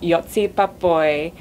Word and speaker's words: Joci Pápai: by the Hungarian representative at this year's contest, Joci Pápai. Now, how did I do with the pronunciation?